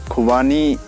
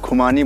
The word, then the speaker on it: खुबानी: और इसे वैसे प्रोनाउंस खुबानी बोला जाता है, लेकिन यहाँ पर हम लोग जो लोकल लैंग्वेज में बात करते हैं खुमानी बोलते हैं इसे।